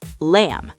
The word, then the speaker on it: lamb: Here's the pattern. If you see mb at the end of a word, the b is silent.